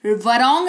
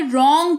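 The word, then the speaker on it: wrong: वरॉन्ग नहीं रॉन्ग पढ़ेंगे, जिसका मतलब होता है गलत।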